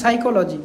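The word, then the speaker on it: psychology: এরপর হচ্ছে চলো CHOLO চলো, এরপর হচ্ছে GY সাইকোলজি, PSY CHOLO GY সাইকোলজি, এভাবে মনে রাখবেন। আবার কিছু ওয়ার্ড আছে এগুলো আপনাদের হচ্ছে সাইলেন্ট, ফার্স্ট যেই লেটারটা ওই লেটারটা থাকবে সাইলেন্ট।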